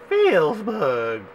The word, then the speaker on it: Felzbug: Well, Felzbug is how they say it, and you, Felzbug, should do a collaboration with Gubslev.